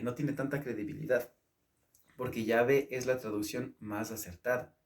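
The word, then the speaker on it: Yahweh: pronunciación los expertos indican los expertos en teología han indicado que ya ve es decir entre la ley y la h de agregarla a wv la ley y al final h ya ve la web ya ve es la mejor pronunciación incluso indican que esa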